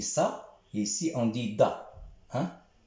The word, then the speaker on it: ض: On dit ça, et ici on dit da. Hein? S'il y a un point, on dit da. S'il n'y a pas de point, on dit ça.